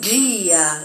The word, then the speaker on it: dia: sonido cuando decimos bon dia, el famoso bon dia, que significa buenos días. Entonces, D con I siempre G, G.